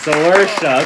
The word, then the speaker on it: Saoirse: Saoirse. Okay, that's how you say her name.